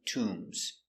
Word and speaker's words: tomb: In Egypt, they have many tombs. Tomb t tomb. Tomb has a long ooh. So we make the sound tomb. Remember the position is low. T tomb not to low to tomb. Tomb.